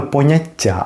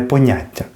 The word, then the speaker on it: поняття: утворити іменник поняття і з наголосом на останній склад саме поняття а не поняття і це іменник поняття